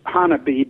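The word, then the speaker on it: Honobia: up there south of a town that is pronounced by the locals Hanabi but it looks like an obeah and that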